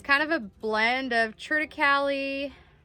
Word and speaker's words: triticale: And it is kind of a blend of triticale, I guess you'd call it triticale. I think that's how you say it.